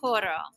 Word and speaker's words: coro: Coro, you want to roll your R just a little bit. Flip your R.